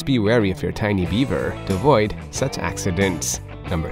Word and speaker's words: Biewer: three can you guess why the beaver Terrier is pronounced in the same way as the friendly Beaver despite being spelled as Beaver well it's because these little pups are actually of German origin number four the beaver